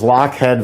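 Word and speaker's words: Lochhead: mention what it is she's right this is lockhead vanilla uh it's a company that specializes in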